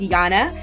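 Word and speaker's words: Jana: her name is um in Sweden they pronounce their J's like like y so it's Yana and she is a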